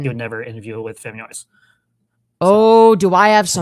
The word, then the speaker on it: Femyoz: Because even though it's pronounced Femyoz.